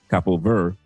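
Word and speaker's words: Cabo Verde: Capo Ver uh the the D and the E is silent in Portuguese team is playing tonight against Argentina.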